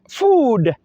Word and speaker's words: food: Then we have, quite food, F-double-O-D. The double O is pronounced the long oo sound.